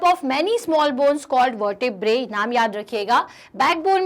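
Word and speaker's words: vertebrae: वर्टेब्रे। थोड़ा सा pronunciation इसका आपको अलग अलग जगह अलग मिलेगा, लेकिन अपन इंडियन प्रोनाउंसिएशन में से वर्टिब्रे कहते हैं।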